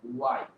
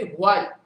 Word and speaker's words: why: এটার উচ্চারণটা কি হবে? ওয়াই। শুধু ওয়াই এর উচ্চারণ যেটা, এটার উচ্চারণ তাই হবে। আমরা অনেক সময় উচ্চারণ কি করি? হোয়াই।